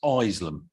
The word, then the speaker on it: Isleham: Can I remind the member, it's Isleham. The residents have already been overlooked for their school and now their name is being mispronounced.